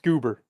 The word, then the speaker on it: Gubber: Hunger spelled Gubber, pronounced Goober.